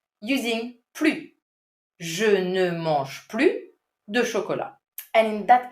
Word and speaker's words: plus: Je ne mange plus de chocolat. And in that case, also note that you do not pronounce the final S at plus.